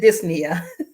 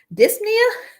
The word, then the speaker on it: dyspnea: So we know that the PNEA, the P is silent, the NEA refers to breathing.